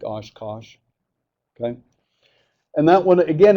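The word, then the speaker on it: cosh: the same thing for this one okay I pronounce this one as Kos okay so this is the Cinch this is the Kos you might hear people call it the co or something like that doesn't really matter the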